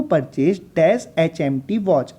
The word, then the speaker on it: HMT: अगला एग्जाम्पल देखें, I want to purchase dash HMT watch. अब HMT भी भाई एब्रीविएशन है, स्टार्ट किससे हो रहा है, इसका प्रोनाउंस ए से स्टार्ट हो रहा है, इसलिए यहाँ पर